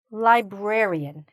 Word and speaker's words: librarian: So, what do we have to be careful of, here? Is the extra "r" here. Sometimes, people forget this "r". Okay? So, make sure you're saying that "r".